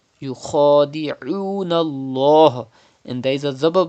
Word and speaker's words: يخادعون: Do not say oon Allah. If you say oon Allah, that means you are reading hamza. It is not hamza. It is ain. Yukhadi'un Allah.